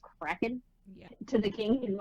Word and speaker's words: kraken: days after i'm gonna release the craig is what he calls it but it's pronounced kraken to the king like